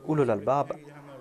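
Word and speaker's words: أولو الألباب: dit ulul albab, mais ici je suis en train de dire ulul albab avec dhamma. Certaines personnes pensent que je suis en train de mal prononcer ce terme. Quand on cite un terme, on le fait au nominatif avec dhamma. Mais au cours de la récitation du verset, on va prononcer ce mot tel quel.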